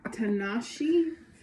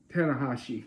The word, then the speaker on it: Tanahashi: The next crate includes Tanashi. Is that how that's pronounced? Tanahashi. Tanahashi. That was close.